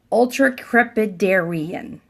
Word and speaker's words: ultracrepidarian: Ultracrepidarian. Ultracrepidarian. That is the word of the day. So let's spell it out because it's a big, long word. Ultra, U-L-T-R-A, crepi, C-R-E-P-I, Darian, D-A-R-I-A-N. Ultracrepidarian.